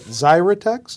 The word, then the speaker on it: Xyratex: more about that in just a little bit zyex is that how this is pronounced yes xrx the ticker symbol what do